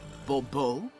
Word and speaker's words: Bobo: The emphasis falls on the last syllable. Bobo?